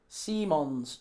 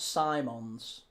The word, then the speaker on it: Xavi Simons: Seemons, not Simons. Xavi Simons. Why not?